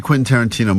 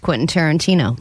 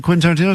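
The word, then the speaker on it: Quentin Tarantino: Vanessa has never seen a Quinton Tarantino movie and she's never successfully pronounced Quinton Tarantino. That's true all week as she's been talking about this prize we have. She's been saying quasa quinton. Soana. So we're like what you talking about? Quintarino still.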